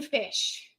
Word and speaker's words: Fisch: Gin Fish. Gin Fish. 5-ingredient keto cookbook by Gin Fish. It's spelled Fisch on Amazon.